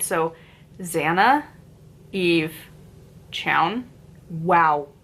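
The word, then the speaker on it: Xanna: names written by okay X is supposed to be pronounced as a z right so Zanna Eve Chow wow names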